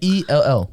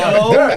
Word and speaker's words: Cowell: No, not C-O- Caldwell. There's white That was Mexicans. That Cowell.